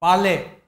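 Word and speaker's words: parley: उसको पार्लिमान कहते हैं, लेकिन इसी से मिलता है पाले। इसमें आर साइलेंट है।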